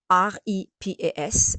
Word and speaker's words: repas: You don't pronounce the S, you say repas. If you say repas, this is something else, So, you just say repas, because repas, this is a meal.